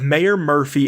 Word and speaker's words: Mayor Murphy: It begins with the murder of Mayor Murphy and I don't know how to say this.